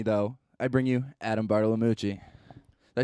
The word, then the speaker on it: Bartolomucci: I bring you Adam Bartolomucci.